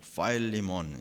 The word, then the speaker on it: Philemon: 우선 이제 영어 발음으로는 이제 파일리몬 이렇게 말하는데 우리 발음이 훨씬 원문에 가깝죠.